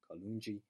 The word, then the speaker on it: Kalunji: And again, there are exceptions to this rule, like in my name, Kalunji, which is a soft G.